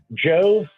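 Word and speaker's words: Djo: And uh Joe, I guess d j o is how you pronounce it.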